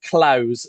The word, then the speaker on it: Clowes: Laird Clowes. So LAIRD. Of course. Dash Clowes, CLO. I always try to think what the consonant is before the end, and there isn't one, so it's Clowes.